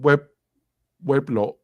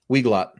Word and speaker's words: Weglot: On to the next one, Weblot. Am I Weglot. Pardon? Weglot. Wheelock, I always pronounce it.